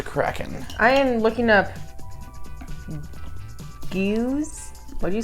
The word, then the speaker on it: Geuze: Pronounce G-O-O-Z. Geuze.